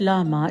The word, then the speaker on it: llama: The word llama is a tricky one, pronounced as llama by the locals, as it has double L that takes the pronunciation as ya.